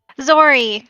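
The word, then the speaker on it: Xori: zory yeah or xory zory sorry i'm sorry it sounded cute so i i like the xor uh thing and i just added eye on it it sounded cute well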